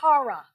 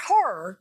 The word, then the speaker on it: hara: Then right below your navel is your hara. Not horror, not the monsters under the bed. It's spelled H-A-R-A.